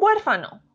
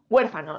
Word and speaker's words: huérfano: o qué pasa con huérfano huérfano lo separamos en sílabas herer fa no herer fa no es una palabra esdrújula por lo tanto debemos de acentuar Sí o sí aquí nos encontramos con